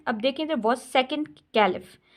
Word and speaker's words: caliph: अब देखें इधर वाज सेकंड कैलिफ। अब कैलिफ में देखिए PH, इसको हाईलाइट किया हुआ है। अब PH जो बच्चों देखें, ये एक कैलिफ फा वाली साउंड बन